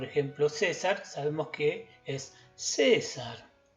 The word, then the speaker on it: César: césar sabemos que es cesar sabemos que es el acento está en la primera sílaba por lo cual tendríamos que hacer un tono agudo la primera vez césar en el caso de